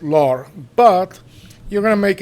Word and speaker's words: leurs: So um so if you're pronouncing the plural on on its own, you're going to pronounce it lore.